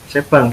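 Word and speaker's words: shebang: Nah, tadi yang mungkin bertanya pagar tanda seru pagar tanda seru slash bin slash base itu namanya, ini bacanya apa ya? Sebang gitu ya, sebang bahasa lah bahasanya.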